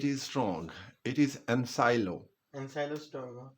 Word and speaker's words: Ancylostoma: Ancylostoma. It is ensylo. Ancylostoma You duodenum. you strike out C before L.